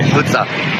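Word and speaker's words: ሑጻ: And how do you say sand in Tigrinya? You say Hutsa.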